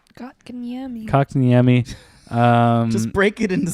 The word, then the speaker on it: Kotkaniemi: Kotkaniemi. Kotkaniemi. Just break it into syllables.